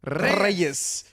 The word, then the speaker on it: Reyes: I love how you roll your R's. Reyes.